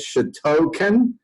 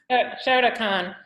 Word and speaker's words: Shotokan: Shotokan? Did I say it right? A little close? Okay. Shotokan.